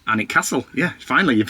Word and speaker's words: Alnwick: U BRC Castle no it's not brancaster Castle um so if you can say it right anic castle anic castle yeah finally you've said